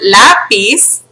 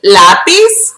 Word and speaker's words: lápiz: Now, a word that ends with a Z, which we pronounce like an S, in Spanish, when, like this, okay? So, for example, the word lápiz, which means pencil, you add es, right?